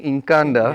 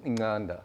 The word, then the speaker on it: Incanda: then but unfortunately yes people struggle to pronounce it correctly so it ended up being in canada yeah um but it's actually in inganda nice yeah so that